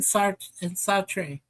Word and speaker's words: Sartre: Camus and Sartre. Sartre. Yeah. I can pronounce Sartre.